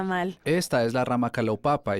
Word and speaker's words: Kalaupapa: Y sé algo de que había dos ramas, una en Kaloapapa y la otra en... Kawahu. Sí, gracias, no quería Bueno. pronunciarla mal. Esta es la rama Kalaupapa y yo serví como obispo del barrio Ho'oleo.